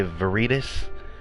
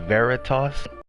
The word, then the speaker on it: Veritas: of my name a lot of people say viridis it is pronounced Veritas it is Latin for truth saadet though actually